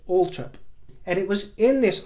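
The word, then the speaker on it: Althorp: suspense of that era Diana's father confirmed that indeed the pronunciation was Alp and he said that that was definitely correct and that's how his grandfather and his great auntie would pronounce it Ultra and it was in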